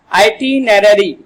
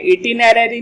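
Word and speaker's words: itinerary: आइटिनरी, आइटिनरी इसका क्या है प्रोनाउंसिएशन है, इटिनरी नहीं बोलेंगे, आइटिनरी इसका उच्चारण है।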